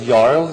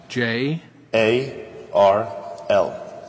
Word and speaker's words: Jarl: Oh, well, The first name is Jarl, spelled with a J, pronounced with a Y. J. A-R-L.